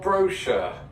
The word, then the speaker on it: brochure: For sure, brochure. Doesn't rhyme. But it does when I say it.